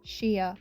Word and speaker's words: shea: so funny is that I didn't even say it right in any of the versions I said it it's literally sheia butter why do I have